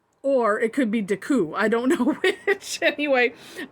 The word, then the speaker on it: Decoo: how to pronounce this it's based on like art deco design so you could say art you could just say deco or it could be daku i don't know which